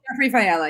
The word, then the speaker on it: Jeffrey Fiala: We've got, how do you pronounce that? Is it Jeffrey Fiala? Jeffrey Fiala, yep.